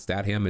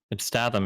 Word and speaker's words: Statham: It's not Statham. It's Statham, isn't it?